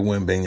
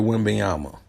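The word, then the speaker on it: Wembanyama: root for whoever drafted Victor win being I don't know I said his name wrong whoever drafted Victor wimbleyama all right it might sound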